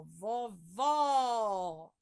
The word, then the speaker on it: vovó: O acento circunflexo deixa o som fechado da vogal, né? Ó, vovô, né? Já o agudo, ele dá uma pronúncia aberta, ó, vovó, né?